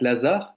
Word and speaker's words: Lazard: des invités, qui est la banque Lazare, qui est une banque lyonnaise, mais qui s'écrit Lazard, eh bien, ils vont envoyer à l'association Lazare, Lazare.